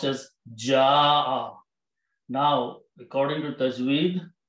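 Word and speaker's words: جاء: So it is pronounced as ja'a. Now, according to tajweed, when there is a hamza and there is an alif before that, we put a long mad on that alif and we pronounce ja'a.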